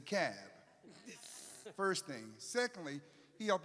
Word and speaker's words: Cobb: thing about Georgia because it's not pronounced as the Cobb it's the cab first thing secondly he